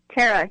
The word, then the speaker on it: Thara: having us on now am I pronouncing your name right Tara yes Tara great okay um wanted